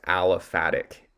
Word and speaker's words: aliphatic: So we would call this aliphatic. Aliphatic spelled like this, A-L-I-P-H-A-T-I-C.